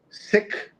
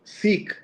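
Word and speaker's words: Sikh: So Jonath so the discussion has been uh many uh folks who follow the religion have asked us to say sick instead of seek and uh here's what Jonathan says.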